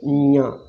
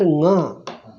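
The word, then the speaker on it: ञ: This is not Nga. This Nya is, it is a Chavargas. So you can't pronounce as a NG. You can pronounce it as NJ.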